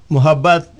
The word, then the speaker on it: Muhabbat: Muhabbat is double B-A-T at the end, Muhabbat.